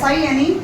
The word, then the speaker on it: sine: वो होता है आपका, प्रोनाउंसिएशन वही करते हैं SIN, बट एक लेटर यहाँ पे नहीं लिखते हैं।